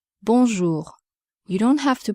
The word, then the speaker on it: Bonjour: Bonjour. Bonjour. Be careful with the pronunciation of the nasal vowel. Bonjour.